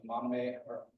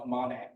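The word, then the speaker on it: māmane: They eat seed pods in the Maname I mispronounced most of the Mamane forests in the dry side of Mauna Kea.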